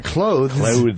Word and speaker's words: clothes: We all say it like you're closing a door, a close. Yes. Exactly. That's it. It's your clothes.